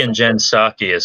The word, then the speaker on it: Psaki: The P in Jen Psaki is silent, just like the P in President Biden, by the way.